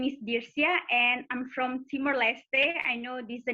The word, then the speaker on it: Timor-Leste: a new country and most people don't pronounce it right and it's not your fault and it's okay so yeah it's it's timor-leste this is the official name but in english we